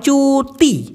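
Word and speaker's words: cuti: Malaysian ভাষায় বলা হয় চুতি চুতি কারণ সি কে চ উচ্চারণ করা হয়ে থাকে দুতা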